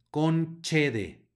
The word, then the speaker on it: concede: praemia sino premia luego tenemos una c seguida en una e la c va a sonar como Che con chede no concede sino concede luego tenemos una q